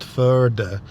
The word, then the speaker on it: FØDE: Apparently it's pronounced FØDE in Danish.